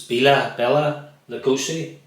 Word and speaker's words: Bela Lugosi: use slap here because I always say this name wrong. It's Bela Lugosi.